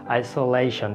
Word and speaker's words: isolation: The correct pronunciation of this word is isolation. There is a stretch here, isolation.